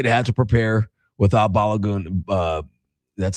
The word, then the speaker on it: Balogun: I expect the USA to have to prepare without Balogun. That's how you pronounce it. Balogun, yeah.